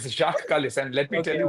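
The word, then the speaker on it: Jacques Kallis: Even I say Jack Kellis. Yeah. It's Jacqu Jacqu Kalis.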